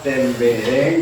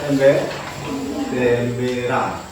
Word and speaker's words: tembereng: Ya, desain, kemudian tadi membaca tembereng, dibaca temberang. Ya, biasa. Salah pengucapan itu biasa.